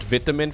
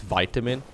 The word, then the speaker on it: vitamin: I do like saying the word vitamin from time to time, and there's always a lot of Americans in the chat that correct me saying it's vitamin.